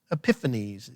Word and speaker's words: Epiphanes: weird dude antiochus epiphanes all right let me spell that for you a-n-t-i-o-c-h-u-s like antioch antiochus epiphanes e-p-i-p-h-a-n-e-s antiochus epiphanes now who was antiochus epiphanes